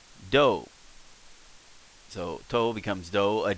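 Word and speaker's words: ど: Becomes like doe. So toe becomes doe, a deer, a female deer, or doe as in rolling in dough, bread dough, doe.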